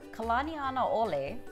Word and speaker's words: Kalanianaole: 2 other highways that are said incorrectly are Kalaniana Ole, which wraps around the southeastern part of the